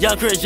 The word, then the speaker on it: Yvngxchris: top three I'm accounting y v n GX c h r i s that's how you pronounce it young Christi just won't ever fall